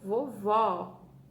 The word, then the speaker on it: vovó: E com o acento agudo, ela ficou vovó.